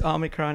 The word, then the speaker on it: Omicron: How do you pronounce it? You know okay. Better than me. Yeah, it's another Greek word. Yeah. It's Omicron indeed.